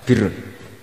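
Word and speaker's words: بر: Ya kalau di isim fa'ilnya umumnya guru-guru kita baca barin, tapi untuk masdarnya, untuk kebaikan bacanya apa? Birun.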